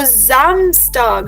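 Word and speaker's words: Samstag: The numbers yesterday okay so जमस्टार्ग remember the ji sound will come because the word जमस्टार्ग हैज़ एन एस इन इट जमस्टार्ग एंड the same copy paste story is for Sunday as well.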